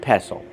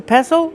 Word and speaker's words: pestle: The T is silent. Don't pronounce the T.